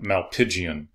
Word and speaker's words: Malpighian: They also have a different kind of excretory system, known as malpighian tubules. That's how you pronounce that, malpighian.